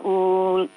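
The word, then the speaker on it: أُولِي: Ba'asna alaikum ibadan lana uli pendek ya. Bacanya pendek, uli ya.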